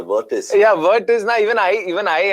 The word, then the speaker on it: Virtus: Why do I keep calling it the virtuous? It's a virtus.